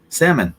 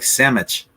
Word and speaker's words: salmon: good one too Roo salmon salmon yeah like samage which is incorrect but s salmon smch